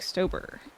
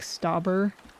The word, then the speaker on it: Stauber: I've heard other people pronouncing Jack Stober's name as Jack Stauber. But I'm pretty sure it's Stober. Because he says it Stober in one of the songs.